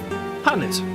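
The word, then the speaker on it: H'aanit: Hanit. Okay, that is how that's pronounced.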